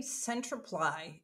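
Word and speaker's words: Centriply: our name our name centreply it's pronounced like clarify amplify simplify those are all things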